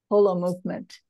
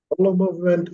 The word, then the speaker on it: Holomovement: remember it that way pronounce it correctly and you say whole Holo movement Holo movement as an whole and indeed you're absolutely